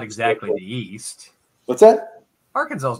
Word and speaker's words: Arkansas: not as far east as England yeah yeah Arkansas is right about the middle no come on